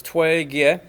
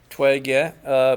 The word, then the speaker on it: Toi-Gye: them as closely as they could to the pronunciation so it's Twiggy Twiggy pattern diagram for 12 years a + /